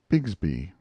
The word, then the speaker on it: Bixby: you horus biggsby's cub bixby was usually pronounced bigsby on the river but brown made it